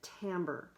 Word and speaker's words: timbre: you to know that this looks like timber but at we pronounce it Tambor and it's the own